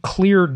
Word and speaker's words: Kleard: ceo of cleared and cleared now that's spelled with a k by the way and